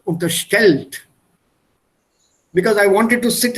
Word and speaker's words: unterstellt: Stress the second syllable. Unterstellt.